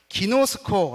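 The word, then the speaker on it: γινώσκω: 암 지식적인 앎을 얘기합니다 3번은 기노 스코어 라고 발음합니다 경험에 의한 아닙니다 이렇게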